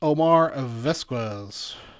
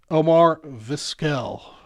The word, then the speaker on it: Omar Vizquel: And Pamela bringing up the rear card, spot 15 is Omar Vesquez. Omar Vizquel.